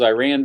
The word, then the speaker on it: Iran: it from the Midwest nobody says Iran other than people that live around here in Kansas I don't know it's Iran mr.